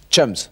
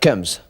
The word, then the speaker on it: chums: Chums. What? It's chums, not cums. You must pronounce the H, Jean-Paul. Like cheese.